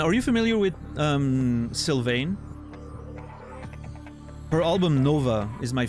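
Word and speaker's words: Sylvain: do you spell it syane um like silven but you know like the trees silven but with a i n e at the end San s y l v a i n e the album is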